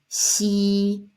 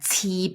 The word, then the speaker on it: xi: And then the last one here is xi, xi. Some people pronounce like qi, but it's not. It's much tighter. It's xi. Your teeth like close, that touch each other.